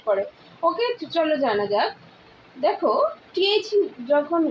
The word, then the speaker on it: the: সেই ওয়ার্ডটি যদি কনসোনেন্ট দিয়ে শুরু হয় তাহলে সেই ক্ষেত্রে টিএইচ এর উচ্চারণ হবে দ্য, যেমন দ্য blackboard, দ্য পেন, দ্য pencil, দ্য duster. ওকে, এবার আসি টিএইচ এর উচ্চারণ কোন কোন ক্ষেত্রে দি হবে। টিএইচ এর উচ্চারণ দি হয় তখনই যদি সেই ওয়ার্ডটি ভায়েল দ্বারা শুরু হয়, যেমন দি আউল, দি অরেঞ্জ, এটসেট্রা।